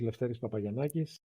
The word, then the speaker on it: Lefteris Papagiannakis: especially your name which I will struggle to pronounce yes thanks for having me first of all my name is leis papay yakis the director of the Greek counil for refugees